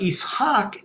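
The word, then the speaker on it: Ishaq: Hebrew names fine but isak is the Arabic way of pronouncing Yak in other words If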